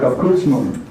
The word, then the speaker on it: Abkürzung: Abkürzung. Yes, B's are F's. And remember, the B's are pronounced F's. Abdomen.